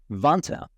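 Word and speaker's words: Vanta: time time and money vant rhymes with Santa automates up to 90%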